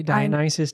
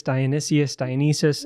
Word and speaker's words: Dionysus: There's many a way to say Dionysus, Dionysius, all of the above.